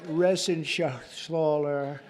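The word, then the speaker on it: Reschenthaler: Ren Shaler you know that Ren Scher he's uh that's actually the way you pronounce said you know nobody else gets it right I got it right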